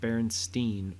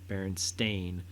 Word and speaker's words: Berenstain: and it's bear baron not berenstein berenstain bears like the author um which is something that everyone i guess is always like said wrong i have said it wrong so that was interesting